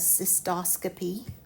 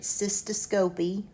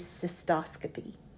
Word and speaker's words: cystoscopy: the root cyst and the first word I pronounce as cystoscopy. I have heard it cystoscopy but that bugs me. If your professor tells you to use that use that but to me it is cystoscopy.